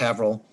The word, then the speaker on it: Haverhill: village and have it's it's Haverhill but it's pronounced Avril is attacked in New